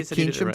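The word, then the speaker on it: Keynsham: Okay, Keensham Town.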